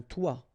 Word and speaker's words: toit: Okay, and then both of them are pronounced like toi. Un toit, toi.